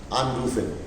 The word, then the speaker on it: anrufen: Anrufen. You cannot pronounce them in one breath. You have to anrufen. You know, like the first two syllables are getting, letters are getting stressed upon.